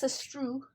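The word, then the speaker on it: Astruc: Jeremy Zag and Thomas Sestrou. It has a C at the end, but you don't pronounce it because French.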